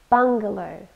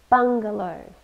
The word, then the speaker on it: bungalow: onto a wall bungalow bungalow three syllables and we stress the first one bungalow it's a noun and